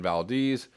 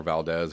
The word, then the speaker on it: Valdez: the scale of the exxon valdez spill or valdez if you want to pronounce it even somewhat closely to how it should be um which horrified an